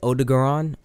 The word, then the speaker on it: Odogaron: It's like Odogaron. O-D-O-G-A-R-O-N. I think that's how you spell his name, but I'm just gonna